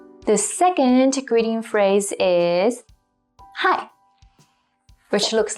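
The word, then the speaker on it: 嗨: by younger people so simply say hi as you would say it in english because hai is translated from english based on the pronunciation hi the next set of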